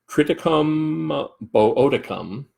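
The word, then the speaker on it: Triticum boeoticum: the wild form the wild species which is triticum modicum that's how that's pronounced or the domestic form which is triticum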